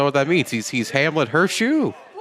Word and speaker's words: Hurtssue: Hurtssue, there is no T. The T is silent. Watch this, Hurtssue.